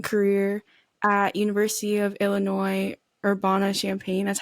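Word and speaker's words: Urbana-Champaign: finished her D1 career at University of Illinois orbana champagne that's how you say it right yep that's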